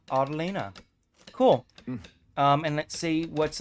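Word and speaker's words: Autelina: So the palace name is pronounced Autolina.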